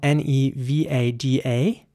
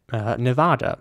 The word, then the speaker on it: Nevada: quite British sounding though so the British way would be Nevada but you know since this is a place in America I think it's you know it makes sense to say Nevada here's an example for